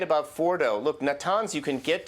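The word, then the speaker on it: Fordow: Yeah, Mike Pompeo mentioned this area called Fordo. It's spelled F-O-R-D-O-W.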